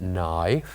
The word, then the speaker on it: knife: k k the word knife has one silent letter which is K and then the other